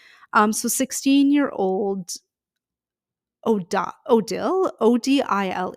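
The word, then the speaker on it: Odile: past and future um so 16-year-old OD odil OD i l e that's how you spell it we're just going to call we're going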